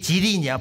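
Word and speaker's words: 吉林: 근데 중국어 발음에 길림과 계림이 지린이야. 발음이 같아. 성조만 다르지.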